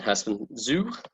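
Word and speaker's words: Herstmonceux: And Hurstman Zoo, as it's pronounced, that's in the sea air by 3 o'clock.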